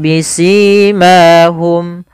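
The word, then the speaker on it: بسيماهم: Kemudian bisimahum, pada lafal si dan ma ini sama sebagaimana ketika kita memanjangkan mu, yaitu dia mad tabi'i, panjangnya 2 harakat.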